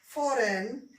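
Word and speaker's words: foreign: करेंगे, इनको हम साइलेंट कर देंगे, इनका हम उच्चारण नहीं करेंगे। ठीक है, तो पढ़ेंगे क्या, इसको पढ़ेंगे साइन, ये है डिजाइन, फॉरेन, रेन।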